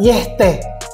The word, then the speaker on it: Yeti: Kata Yeti berasal dari istilah Tibet, diucapkan Yehte, yang terjemahannya menjadi beruang berbatu atau seperti beruang dalam bahasa Inggris.